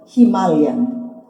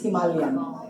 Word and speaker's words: Himalayan: there's anything that we learn today it's really pronounced Himalayan hima okay so Himalayan Himalayan It's Himalayan is how they say it in India at least.